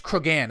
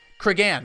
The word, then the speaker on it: Cregan: Name your sons I'm going to mispronounce this. Cregan. It's Cregan, isn't it?